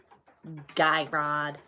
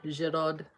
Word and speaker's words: Girod: And Guy Rod, as some people call it, is actually Girod, or Girod.